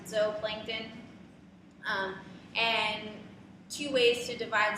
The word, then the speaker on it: zooplankton: So our zooplankton, you could always remember, you know, animals go in a zoo, but we pronounce it zooplankton.